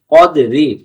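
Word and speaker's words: قدر: জায়গায় ছেড়ে দেই তাহলে আমরা কদরি পড়তে পারবো না কদ্র কদ্র কদ্র আমরা এটাকে অনেকে কাদরি পড়িনা কাদরি কাদরি পড়লে এই কফ অক্ষরটা তখন এই কাফ অক্ষর হয়ে যাবে কাফ জবর কাফ জবর কফ উচ্চারণ হবে এমন করে পরের আয়াত প্রথম আয়াতের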